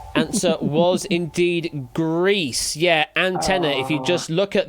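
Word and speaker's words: ANT1: Antenna is literally known as antenna rather than Antwan. Uh yeah, the name is derived from the Greek word for one being Anna. Hence it is pronounced as antenna.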